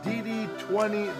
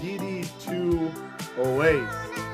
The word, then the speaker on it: DD2 Oasis: I kept saying DD20 the legend when it's actually DD2 Oasis the legend.